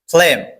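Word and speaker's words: phlegm: ফ্লেম মানে কফ। এখানে পি এইচ এর উচ্চারণ হবে ফ এর মত। মানে এফ। তারপর এখানে জিটা উচ্চারণ হবে না। তাহলে এফ এলই এম। তাহলে ফ্লেম। ফ্লেম শব্দের অর্থ কি?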